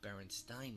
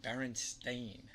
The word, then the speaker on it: Berenstain: sound Steen or Stein both would be how Baron Stein might be pronounced not Berenstain that's a fair argument you're right and I'll admit that even now the correct pronunciation Berenstain sounds crazy the thing is we're talking about